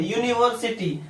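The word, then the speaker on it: university: यहां पे आपका यू है बट उच्चारण किससे हो रहा है आपका? य से।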